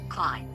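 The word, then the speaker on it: Klei: I looked up how to pronounce the name because I'm really bad at pronouncing names. Clyde.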